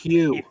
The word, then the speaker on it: Hugh: His name's actually First of pronounced all, Hugh. I know it is. Okay, first of all, The G is silent.